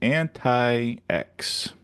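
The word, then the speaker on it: Antix: It's pronounced anti-X. I'm anti everything.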